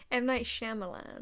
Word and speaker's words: Shyamalan: Am I pronouncing that right? M. Night Shyamalan.